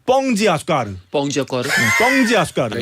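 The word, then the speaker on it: Pão de Açúcar: 심지어 브라질 쪽 가면 빵이 아니라 뻥이 돼 뻥. 발음이. 예. 그래서 거기 설탕 빵산이라고 있는데 뻥지 아수카르.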